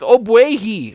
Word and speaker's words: Ogbuehi: oh my goodness how do you say his name I had to look it up his name is Cedric obuagi okay so we're gonna go ahead and talk